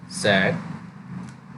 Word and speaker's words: said: Needles मतलब सुई, ये यहाँ पे लिख देता हूँ SAD, सैड, एंड SAID, सेड, okay. सैड, सेड, pronounce with me, sad, said, sad, said, okay, sad, said, like that।